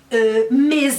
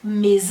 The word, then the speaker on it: mes: Me com S no final, que a gente não pronuncia, porque geralmente as consoantes finais não são pronunciadas em francês.